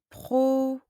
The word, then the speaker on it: professeur: Samia est professeur de mathématiques. Professeur. E and U produce the sound E.